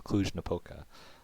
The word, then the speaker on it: Cluj-Napoca: from the term and I learned how to pronounce cluj-napoca good great I'll come in handy yeah definitely